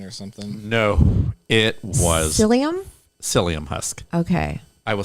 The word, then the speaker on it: psyllium: No, it was Psyllium? psyllium husk. Okay. I will spell it for you.